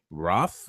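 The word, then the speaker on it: Rothe: and it starred Jessica Roth. I hope I'm saying the name right because there's a silent E at the end of it.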